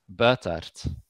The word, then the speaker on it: Buytaert: Andres and trees anyhow my last name is pronounced bertard okay but the best